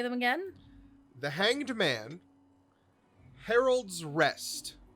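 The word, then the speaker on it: Herald's Rest: again the hanged man harold's rest is it harold's rest or herod's rest uh it's spelled h-e-r-a-l-d-s like the herald yeah that's one uh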